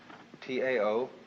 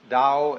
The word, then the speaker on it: Tao: So their principle of nature is called a Tao, T-A-O, pronounced Dao in the Mandarin dialect, Tao in the Shanghai dialect, To in the Cantonese dialect.